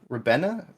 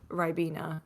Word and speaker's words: Ribena: Games Master at MC Fixer says, "Ask her when me and her will be drinking Rabina? Is that how you pronounce it? Ribena.